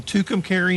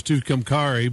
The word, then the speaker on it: Tucumcari: prior to that spent five years in in tucumcari new mexico and which i've mispronounced for years and years is too cumcari but that just sounds a little more exotic